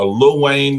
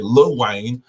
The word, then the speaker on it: Lil Wayne: um then little wayne a little wayne let me say it correctly lil wayne um so we see